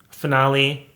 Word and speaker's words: finale: end of season finale finale rhymes with denali maybe denali will be in the finale of rupaul's drag race season 13.